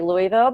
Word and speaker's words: Louisville: from the biggest city in Kentucky I'm from Louisville if I say it properly I usually say luiso because nobody people stopped knowing they didn't know